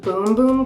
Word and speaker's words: Bum Bum: just smells really Divine bum bum cream by so de Janeiro I was told that it's pronounced boom boom cream that's like the Brazilian way to say it so it's actually named